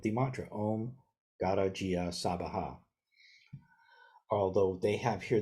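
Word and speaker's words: Svaha: mantra Om Gata Jia Sabaha. Although they have here, this is Soha, which is an alternate way sometimes that East Asian Buddhists pronounce the Sabaha.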